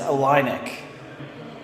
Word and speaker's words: Illinick: Had a pretty big day, and I realized, I was told today that I mispronounced the local camp name. It is Illinick.